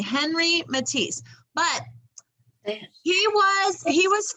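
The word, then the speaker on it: Henri Matisse: he spoke french so you sometimes have to say his name like with the french accent can you say that you say his name like this and when you're in france on re matisse can you say that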